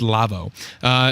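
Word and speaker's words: LAWO: The company's name there that's spelled L-A-W-O, they're German. It's Lavo.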